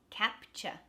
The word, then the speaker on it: capture: And last one, capture. That ch at the end. It's U-R-E. And it's not stressed.